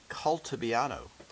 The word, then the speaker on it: Calibiano: I say it calibiano. Uh there's no long a in Italian as far as I know.